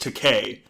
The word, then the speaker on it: Takei: said to William Shatner it's pronounced Takei you know like to pay ah yes that classic